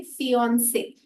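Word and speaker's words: fiancée: तो आप देखेंगे स्पेलिंग में एक ई का अंतर है, पर प्रोनाउंस दोनों उसी तरीके से करेंगे, फियोंसे।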